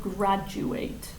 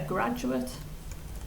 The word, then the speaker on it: graduate: do have the verb graduate which is when you finish university so it's the same spelling but different pronunciation okay so a graduate graduate is the book